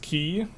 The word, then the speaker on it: Quay: would explore clearly yes Quay is definitely pronounced key if I'm getting trolled